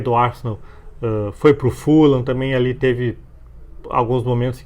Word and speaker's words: Fulham: E é Fulan que se diz o nome, né? Você é chato, não é Fulhan, apesar de se escrever assim.